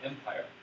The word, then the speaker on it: MPIR: And by the way, you can pronounce it Empire. Empire, like the Empire Strikes Back.